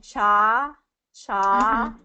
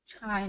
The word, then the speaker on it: China: this one Chana so I'm hearing cha cha instead of chai CH China so it has that long eye sound in it that if you get